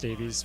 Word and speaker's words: Davies: Fun fact about Beth Davies, there is a second S on that name. It's just pronounced Davies.